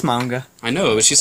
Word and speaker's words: manga: me that he knows this chick who pronounces manga as Mawnga. She doesn't pronounce it like that. She's saying I pronounce it like that. No, I'm upset. It's manga. No, it's manga.